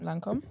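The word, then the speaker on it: Lancôme: So Esther, you're going to have to help me with the pronunciations. Lancome? Yeah, that's right, Lancome.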